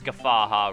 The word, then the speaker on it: Guffawha: And it is Guffawha Ruins, even though I had trouble pronouncing it in the last episode, because the orthography of Guffawha is weird, even though it's just Guffaw and then ha, because Guffaw is a kind of laughter, but with the W